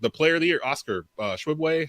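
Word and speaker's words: Oscar Tshiebwe: In Kentucky, the player of the year, Oscar Shibwe, how do you say his last name? Shibwe.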